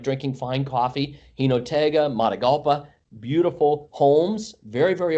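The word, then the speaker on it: Jinotega: I like Gino Tig. I'm sure I'm pronouncing it wrong. Yeah, Hinotega.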